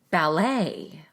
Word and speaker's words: ballet: In most words of French origin, you will stress the final syllable of the word. Take a look at these examples. Millionaire, ballet, boutique, silhouette. So in words that are from French, most often the final syllable is stressed.